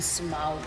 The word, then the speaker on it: Smaug: Llévanos a la secuencia más importante de la película, cuando vemos al dragón Smaug. Good pronunciation.